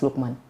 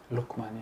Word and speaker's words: Lukman: I keep pronouncing your name wrong. It's Lukman. Lukman, yes.